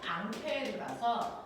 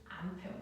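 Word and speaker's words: Ampère: 결정하는 걸 알려준 과학자가 앙페르아서 앙페르 법칙 렇게 얘기해요 자이 사람의 이름이 앙페르 프랑스 사람이가 앙페르요이 사람을 미국놈들이 읽으면 뭐 뭐라고 읽을까 앙페르 미국놈들이 읽으면 뭐가 럴까 암페어이 새끼들아 암페어 그래서 2암페어 3암페어 그 사람이야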